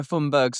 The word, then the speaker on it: Thunberg: You know, one thing I've learned is that we've all been saying Greta Thunberg's name wrong, because I saw her say it on camera and it was more like this. Greta Thunberg! It was like that.